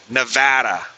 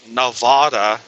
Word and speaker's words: Nevada: And about the only people that I ever heard pronounce it as Nevada were tourists.